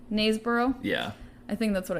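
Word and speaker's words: Knaresborough: Like you drop the K. Naysborough?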